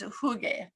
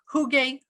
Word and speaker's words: hygge: we'd talk about and i looked up this pronunciation multiple times um and i saw a little variations but basically it's hygge so and i heard huge hygge very like americanized right um and then